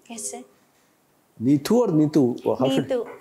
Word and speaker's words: Neethu: Neethu. In Kerala, there is an H along with T for the pronunciation Ta.